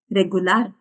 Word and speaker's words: regular: can say regular okay pretty much the word that we have in English but the pronunciation is a little different regular which means okay okay